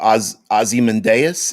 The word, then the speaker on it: Ozymandias: the watchmen series uh ozymandias or ozzie mendez if you want to pronounce it that way um ozymandias yup i'm i'm a